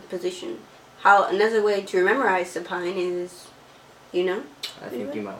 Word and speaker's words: supine: Another way to memorize supine is, I think you might want to knock this one out. Alright, it rhymes with spine.